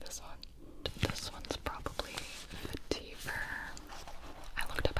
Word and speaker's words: vetiver: This one's probably Vetiver.